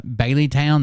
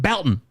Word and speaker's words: Belton: somebody else be like oh I think we're in uh Bailey Town they're like Belton it's Belton like they are they get